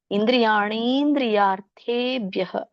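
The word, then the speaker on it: ಇಂದ್ರಿಯಾಣೀಂದ್ರಿಯಾರ್ಥೇಭ್ಯಃ: ಹೇಳಬಹುದು ಅಥವಾ ಕೂಡಿ ಹೇಳೋದಾದರೆ ಇಂದ್ರಿಯಾಣಿ ಇಂದ್ರಿಯ ಣಕೆ ದೀರ್ಘ ಇರುದರಿಂದ ಎಳಿಬೇಕು ಮತ್ತೆ ಅನುನಾಸಿಕ ಇದೆ ಇಂದ್ರಿಯಾಣಿಂದ್ರಿಯರ್ಥೇಬ್ಯಹ ಇಲ್ಲಿ ದೊಡ್ಡ ಕೆ ಅರಕವಳೆ ಇರುದರಿಂದ ಮೊದಲು ರ ಉಚ್ಚಾರಣೆ ಮಾಡಬೇಕು ಇಂದ್ರಿಯ ಇಂದ್ರಿಯಾಣಿಂದ್ರಿಯಾರ್ ಯಾರ್ ಥೇ ಆಮೇಲೆ ಥ ಹೇಳಬೇಕು ಯಾರ್ಥೇ ಭ್ಯಹ ಭ ಗೆ ಯ ಒತ್ತಿದೆ ಭ್ಯ ಮತ್ತೆ ವಿಸರ್ಗ ಭ್ಯಹ ತಸ್ಯ ಪ್ರಜ್ಞಾ ಪ್ರತಿಷ್ಠಿತ ಹರೇ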